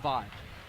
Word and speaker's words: Vi: It is pronounced Vi. Yes. Wendell Vi. I've said Vay, I think, a couple times.